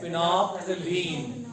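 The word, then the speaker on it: phenolphthalein: एक है फिनोल्फथलीन, right, PHENOLPHTHALEN, इसको हम प्रोनाउंस करते हैं फिनोल्फथलीन, राइट।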